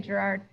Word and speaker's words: Gérard: last thing probably incorrectly how do you say it Gerard oh I said say gérard gérard do you swear affirm